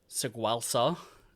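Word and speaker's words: Tsagualsa: Instead, they get penned in by the Alari, forced back to Saguelsa is how it's pronounced.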